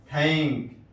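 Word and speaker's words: thank: جیسے دس، دال کی مثال، this T ایچ، دیٹ، دیٹ، تھینک، تھینک، یہاں تھا کا تلفظ ہوا، ٹی ایچ تھا.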